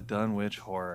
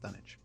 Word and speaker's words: Dunwich: one of my favorites the dunit yeah the dun witch that's going to be a really good one that's a good way to kick off 2011 Chad I it's it's pronounced dunich what where's the is the silent W no